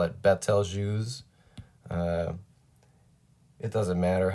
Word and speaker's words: Betelgeuse: So we've got, a lot of people call this Betel or Betelgeuse, this star. I call it Betelgeuse. It doesn't matter how you pronounce it.